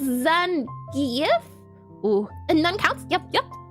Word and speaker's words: Zangief: And while 90% of the players say Zangief, his name is pronounced Zangief.